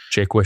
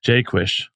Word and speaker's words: Jaquish: The the phonetic way to pronounce that is like Jake hyphen wish.